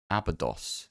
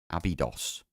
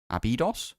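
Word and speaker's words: Abydos: Uh, so Abdos, there's no Y in Abodos. It's pronounced as an E. Abidos. Abidos.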